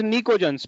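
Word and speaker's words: pnictogen: These are called as निकोजन्स। P silent है, इसको बोलते हैं निकोजन फैमिली।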